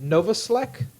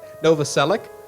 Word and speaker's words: Novoselic: You are not, but you're very close. Novoselic? Like Tom Selleck? Yeah. Yeah, just at least the ending.